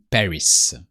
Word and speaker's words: Paris: so you hear that we don't pronounce the S of B because in